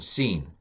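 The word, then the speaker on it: שׂ: the left sheen and scene now um with it with the dot on the right it's sh it's a sh sound and with the dot on the left it's a s so sh sh sh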